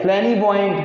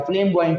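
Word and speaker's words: flamboyant: फ्लैनी बॉइंट नहीं बेटा, फ्लेम बॉइंट ही होता है।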